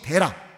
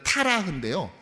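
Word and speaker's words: 데라: 아브라함의 가문의 이름도 그렇습니다 아버지 대라 정확하게 발음하자면 원래 타라요 달이라는 이름에서 유된 것입니다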